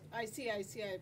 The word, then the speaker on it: ICICI: I'm going to let you pronounce the name. It's ICICI Bank.